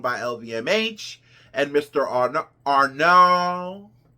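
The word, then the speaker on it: Arnault: lvmh and Mr Arn Arnold I was pronouncing it Arnold but it but it is arnol and um I'm not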